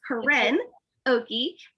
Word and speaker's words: Koryn Okey: It's Koryn Okey.